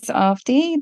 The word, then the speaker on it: Avadhi: recap my name is ofi the second a in the spelling is silent so it's pronounced as